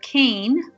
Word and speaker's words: Kean: the url for the website is surviving death kane that's my last name which is spelled k-e-a-n k-e-a-n and if you go to